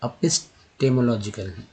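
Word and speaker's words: epistemological: Apis, देखिए एपिस्टेमोलॉजिकल, तो यहाँ पर हो जाएगा अपिस्टेमोलॉजिकल, ई नहीं हो जाएगा, ई का उच्चारण जो है यहाँ पर अ के रूप में हुआ है तो अपिस्टेमोलॉजिकल। नेक्स्ट है अक्वेटा, इक्वेटा नहीं,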